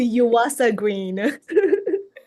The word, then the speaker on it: Yuasa-Green: I believe I said your last name wrong. How does it go? It's a Yuasa Green.